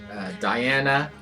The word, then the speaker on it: Dejana: Also, my name is pronounced like Diana.